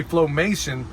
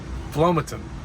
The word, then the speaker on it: Flomaton: never say it right I keep wanting to say flomation but that ain't it that's how all the people that don't live in town yeah but it's actually plummeting flomatin flomatin famous that's going to